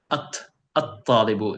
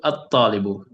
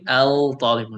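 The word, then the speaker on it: الطالب: So it comes under the category of pronouncing it like at-talibu, erasing this. So at-talibu. So we do not say al-talibu, no.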